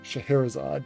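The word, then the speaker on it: Scheherazade: hell got it right Shahar isad yeah I actually have a Nintendo game called the uh the magic of shaherazad and I learned how to pronounce the name based on that game shaherzad is also the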